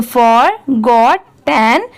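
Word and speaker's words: forgotten: कैसे पढ़े, तो देखिए आप इसे ऐसे भी पढ़ सकते हैं जैसे FOR। इतना क्या होता है? फॉर, ये तो सबको आता होगा पढ़ने, FOR फॉर। अब इसको देखिए GOT, ये क्या हो गया? गॉट, ये भी सबको आता होगा पढ़ने, GOT, इसे हम गॉट पढ़ेंगे, और TEN। ठीक है, ये क्या है? 10। अब जब इन तीनों को साथ में मिला देंगे तो फॉर गॉट 10।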